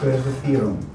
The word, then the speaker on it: reservieren: Ich möchte einen Tisch reservieren. Okay, now, notice I said reservieren. Remember, V is pronounced like an F.